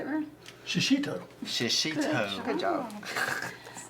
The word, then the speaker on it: shishito: Shishito.